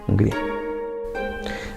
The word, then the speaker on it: Hungría: Hungría, pronunciada como Ungari, Hungría.